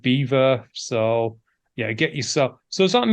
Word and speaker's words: Belvoir: It is, I believe, Beaver Castle, which is spelt Belvoir. I think it's because no one in the local area wanted it to sound French, so they went with Beaver.